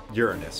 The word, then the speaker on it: Uranus: binding energy of the planet Uranus or Uranus for those of you that like to pronounce it like that the gravitational binding energy